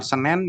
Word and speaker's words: Senen: Jadi menyebutkan pasar Senen ya kita harus menggunakan bahasa Indonesia. Senen itu salah, tidak. Kalau untuk pasar Senen itu nama tempat, jadi tetap disebut pasar Senen, bukan pasar Senin atau pasar Senen.